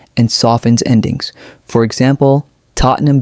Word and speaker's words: Tottenham: For example, Tottenham becomes T O T N E M.